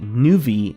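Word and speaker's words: Nuvie: version I'm playing Ultima 6 via the fan-made new V engine that's spelled in UV ie which is a front-end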